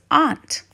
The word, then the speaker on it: aunt: ape ant apple astronaut and or some may pronounce this as aunt what other words can